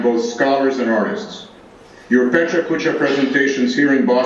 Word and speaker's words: Pecha Kucha: Nicholas, Bálint, Andrea, Zsuzsanna, and all others participating in today's Pecha kucha. I looked up the pronunciation, that is how you pronounce it, even